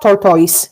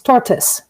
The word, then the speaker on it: tortoise: can see the trick here is the word tortoise because it's not tortoise it's tortoise right so even though we